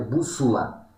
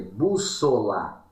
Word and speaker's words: bússola: bu sola Ou seja é com ó tá moçada não é bússula é bússola tá é com o que se escreve ou seja o segundo som que tem som de u né na verdade é